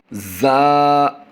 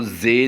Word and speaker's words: زا: گے، را را را، زا زا زا، اس کو زے نہیں، زا زا زا،